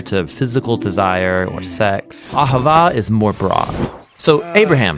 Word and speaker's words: Ahavah: It's pronounced Ahavah.